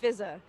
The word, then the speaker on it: Fizaa: my name not it's spelt f i z a a but it's not pronounced fizza it's not pronounced just pronounced fizza one of the a's is silent i don't know which